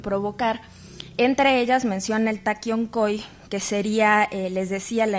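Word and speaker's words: Taqui Onqoy: En todo caso, el Taquioncoy o Taquiongo, que sería más bien como la pronunciación específica del quechua y más bien hacia el aymara, va a ser, por un lado, una suerte de enfermedades.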